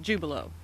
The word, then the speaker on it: Jubilo: other things but it's jubilo just just like it looks well I want to